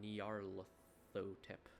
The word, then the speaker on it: Nyarlathotep: But there's no official way to pronounce that name since it's a made up nonsense word. But I prefer Nyarlathotep.